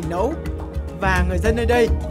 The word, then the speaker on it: nẫu: Vùng Bình Định Phú Yên không phân biệt rạch ròi cách phát âm, vậy nên nậu còn được đọc thành nậu và sau này biến thành nẫu.